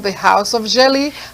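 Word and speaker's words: djeli: You know, the jelly we used to go around in the village telling people the stories. Oh, is it like the drums thing that people, Yes. So that's why it's spelled D-J-E-L-I.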